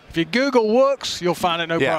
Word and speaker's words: WOOX: So you pronounce it like wood, but except with an X. Oh, right. WOOX.